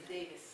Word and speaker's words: Davis: Davis, come si pronuncia qui? Davis.